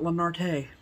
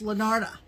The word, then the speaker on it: Lanarte: Kobe told us that's how you say it. Not Lanarte. Not Lanarte or Lanardi. Or Lanarte. Lanarte. It's Lanarte.